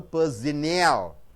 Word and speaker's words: personnel: have it's in now how many beatings are there three syllables are there yes to stress the third third syllable personnel the other chart they